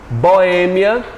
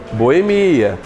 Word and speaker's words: boêmia: bom você prestar atenção boêmia pode ser pronunciado como gente boemia hieróglifo pode ser pronunciado